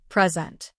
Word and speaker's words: present: for example in present as a noun we stress the first syllable present but as a verb